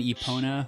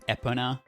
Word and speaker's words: Epona: and are you an e pona or an epona person i usually just go like epona like almost like an eponymous yeah yeah yeah any